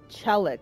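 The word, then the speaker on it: Chellick: Chellic, that's how you say his name.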